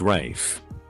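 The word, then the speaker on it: Ralph: jumped all over it it's pronounced rafe well it's spelled rafe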